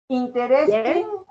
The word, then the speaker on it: interesting: Evelyn, interesting. Yes? The first E. Interesting. Yes. Interesting. Interesting. Interesting. Interesting. La segunda E es muda. Interesting. Interesting. Hay dos sonidos.